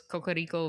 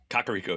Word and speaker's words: Kakariko: basically lived my Ocarina of Time experience was Cocorico Village or whatever. Kakariko, yes.